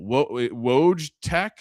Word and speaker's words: Wojtek: Wojtek, W-O-J. Wojciech. Like they kind of pronounce it with a V, so it's like you're right, little Eastern Bloc accent there.